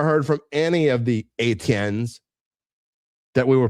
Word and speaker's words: Etienne: And I never heard from any of the Etiennes that we were pronouncing their names wrong. That's how you pronounce it, Etienne.